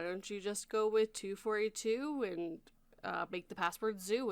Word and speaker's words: To_42: to this link like toe 42 242 yeah it's just 242.